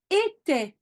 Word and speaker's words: était: Here it's in the plural, but you always pronounce était, even if the ENT is not at the end.